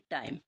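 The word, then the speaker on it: time: बनाते हैं एम और ये हमारा लास्ट वाला क्या रहेगा साइलेंट रहेगा ठीक है तो इसे हम क्या पढ़ेंगे टाइम क्या पढ़ेंगे टाइम ठीक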